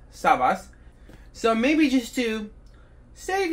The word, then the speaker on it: SAVAS: a little side note I used to think that this clearly backwards s was a z so I always pronounce this brand zabase not Savas so maybe just to